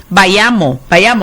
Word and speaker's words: Bayamo: Bayamo, así se pronuncia.